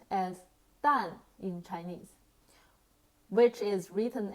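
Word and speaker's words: 蛋: to say it in Chinese firstly egg is pronounced as done in Chinese which is written as repeat after me done great job now what do we call tomatoes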